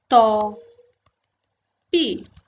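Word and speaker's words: tant pis: इसमें ये टी एंड ये एस प्रोनाउंस नहीं होता, तो ये होता है तोपी।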